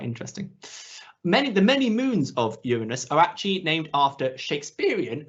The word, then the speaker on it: Uranus: There are many ways to pronounce it. I prefer Uranus. You could also go by one of the original pronunciations, which is Uranus, which I do think sounds cooler, or Uranus if you want to make some jokes, all fine.